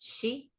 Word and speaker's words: Sith: But if I remember correctly, when it's spelled Sith, it's actually pronounced she.